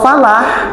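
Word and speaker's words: فلاح: Kalau falah itu pakai ha.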